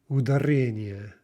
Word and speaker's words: ударение: Speaking of stress, can you hear the stress on that word? Note that it's not, let's practice misplacing the stress. Ударение, right? Ударение, ударение, ударение, ударение, ударение, ударение. It's almost hard to do. Ударение, ударение, right? So those are all incorrect.